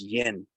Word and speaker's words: yin: between een and yang yin is actually pronounced yen in pronounced in so